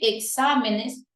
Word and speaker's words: exámenes: y de Espécimen especímenes Pero eso no pasa con exámenes que en su plural decimos examen exámenes la sílaba tónica sigue siendo exam no ha cambiado la sílaba